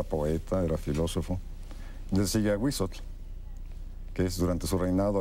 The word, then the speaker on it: Ahuizotl: A Huizotl se pronuncia, ¿verdad? Sí. A Huizotl, monstruo del agua.